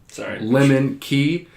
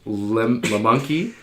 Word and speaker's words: Lemke: It's Lemke. I know it's spelled like Lemonkey. Yeah. It's I didn't know until someone pointed that out.